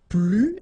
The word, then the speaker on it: plus: this more okay so you will use this PL and in that case you don't pronounce the S okay PL then you put your